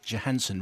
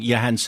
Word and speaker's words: Johansson: came on and you told us off of pronouncing uh Scarlet Johansson wrong and uh Johansson is right. Johansson is wrong. Yeah, it was Mark had been saying Yansen and so you came on and told yourself